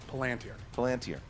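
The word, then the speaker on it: Palantír: Palantir. 2 points. I'm literally only here to correct his pronunciation.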